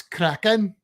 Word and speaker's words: Kraken: You got to say it like you're Welsh, though. That's Kraken.